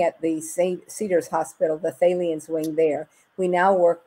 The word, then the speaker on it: Thalians: But Thalians, is that how you pronounce it? Yes, the Thalians.